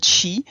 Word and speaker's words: qi: People might be familiar with those terms, like chi energy, or is it chai energy? What's the correct way to say it, Anne? So I'm not very familiar with the African cultures, right? But in China, exactly like you said, it's the qi, yes, which is the